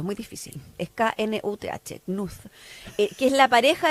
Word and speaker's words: Knuth: No puedo pronunciarlo, es muy difícil. Es K-N-U-T-H, Knuth, que es la pareja de su padre.